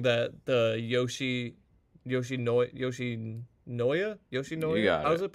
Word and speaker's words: Yoshinoya: a bunch of people are saying that the Yoshinoya, You got how's it. it pronounced? You got it. Yoshinoya.